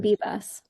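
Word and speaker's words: Bibas: uh is it pronounced Bibbus Bibbas? Yorden Bibbas.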